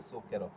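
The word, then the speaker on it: zucchero: এরপর শব্দের শুরুতে যদি জেতা অক্ষর থাকে এবং সিল্লাবা এর পরের অক্ষর যদি পি সিটি এফ হয় তাহলে জেতা অক্ষরের উচ্চারণ ছ এর মত হবে যেরকম সুকের এরপর জেতা অক্ষরের পূর্বের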